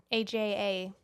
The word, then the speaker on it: Aja: AJA. Asia. Okay. Asia. I was reading and I literally just read it AJA. Aja. Okay. Aja. That's how they say it.